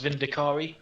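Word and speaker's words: Vindicare: necessarily extreme but the boy they do it's pronounced vin de carro do you know how I know this we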